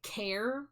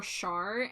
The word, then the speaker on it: Char: name they're like cuz they want to pronounce it care or char and I I tell them it's char like Charmander. So that's actually what I tell everybody.